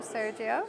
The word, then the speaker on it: Sergiu: day ahead as well but I'm delighted that Sergio nagutz co-founder and CSO from fintechos has taken a little time out of his schedule to chat to me hello Sergio very purposefully thank you very much for uh